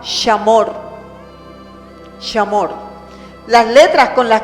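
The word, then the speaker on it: שמור: La palabra guardar en hebreo suena muy parecido a Shema. Es la palabra shamor.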